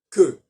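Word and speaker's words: queue: Un cas amusant, c'est le mot que, Q-E-U-E, français, qui reste en anglais sous la même forme écrite. Alors évidemment, il est prononcé différemment, il est prononcé Q, mais peu importe.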